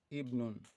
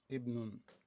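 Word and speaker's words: ابن: So when it comes between two words or letter or words, so we assimilate it. That is, we omit it, we don't pronounce it.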